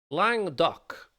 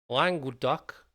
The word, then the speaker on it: Languedoc: Languedoc is an area of which European country? I've said that wrong, not my fault. France, Portugal, Germany, Austria. Languedoc is an area of which European country?